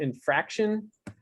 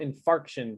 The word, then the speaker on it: infarction: Again, understandable what you said, but you pronounced myocardial infraction, but it's myocardial infarction. An infraction is like you've done something wrong. Yeah, like you get a ticket for a traffic infraction. Infarction. Yeah.